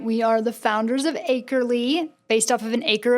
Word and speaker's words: Acrely: We are the founders of Acrely.